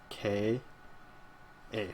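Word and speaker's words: ཀ: And it's pronounced like K, A, right? Ka.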